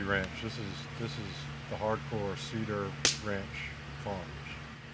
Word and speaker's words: C-DAR: C-DAR Farm. C-DAR Farm. We didn't spell it C-E-D-A-R because somebody already was using it.